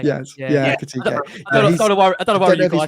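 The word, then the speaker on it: Ekitiké: Etit. I'm going to pronounce the name wrong. Ekitike. Yes. Yeah. Ekitike.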